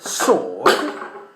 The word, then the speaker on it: sword: In the word sword, clearly the letter W is not pronounced.